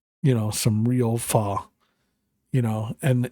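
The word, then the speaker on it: phở: So if you ever ever get a chance to have some like you know some real fa you know and it's pronounced fa but it's written fo like f hh o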